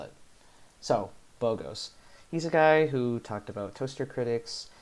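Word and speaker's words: Bogost: Here we turn to Boghost. Yeah, that's how you pronounce it, and that's how you spell it. So, Boghost.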